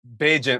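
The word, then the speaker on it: Bagent: Tyson Bean or Bagant? Beent. Like agent. Yeah, you said it right. Tyson Beant.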